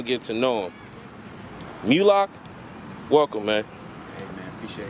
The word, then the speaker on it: Mula1ks: wrong it's moonlock it's like same moolah but i had a kfd okay okay all right